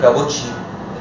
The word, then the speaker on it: Kaposi: كابوسي ساركوما يعني في ناس بتحب تنطقها كابوشي مثلا، خديها من على طرف لسان، وفي ناس بتحب تقولها كابوتشي.